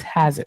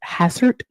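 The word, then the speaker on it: Hastert: Dennis Hazard. Hassert.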